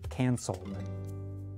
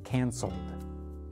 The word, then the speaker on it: canceled: Be sure to put enough strength behind the very last sound of the word. Canceled. Canceled. Canceled.